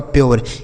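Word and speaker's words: pure: तो आर ई रहेगा तो इसका उच्चारण दोस्तों यो के रूप में होगा। किसके रूप में? यो। यानी इसे आप यो पढ़ेंगे। जैसे पी [नाक से की जाने वाली आवाज़] से हो गया दोस्तों आधा प। यू का उच्चारण दोस्तों यो हो गया। आर ई से र। ये हो गया आपका प्योर।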